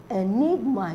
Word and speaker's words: enigma: stressed at the first Enigma Enigma so Enigma is stressed on the second maintenance M so I'm